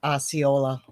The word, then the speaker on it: Osceola: You're pronouncing it right, Osceola.